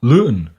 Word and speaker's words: Luton: The town in England they live in was called Luton, and it is still, I think it's usually pronounced by English people, Lon, but you know, you know how they are.